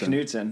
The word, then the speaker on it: Knudsen: the ABC to Delaney you used to say commence Knudsen which is actually how you how you pronounce it because I had a